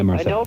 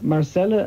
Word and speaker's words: Marcela: you and sorry for getting your name wrong Marcel just to say jar Marcela actually when she called me